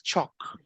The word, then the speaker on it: chalk: So this is chalk, okay? So notice that the letter L is mute.